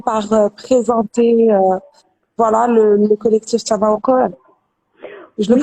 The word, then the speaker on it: Tamawqo3: Donc, est-ce que tu peux peut-être commencer par présenter voilà le collectif Tamaoko? Je le Oui, prononce bien, mais Dayak.